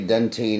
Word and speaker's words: dentine: and this whole disclosure australian say dentine and drive on the wrong side of the road an american say dentin they drive on the right cetera you know you